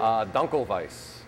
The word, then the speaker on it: Dunkelweiss: How do you pronounce it again? Dunkelweiss.